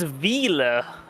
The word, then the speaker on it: Wiele: It's Wiele. It's German, so yeah, it's a bit rough to say.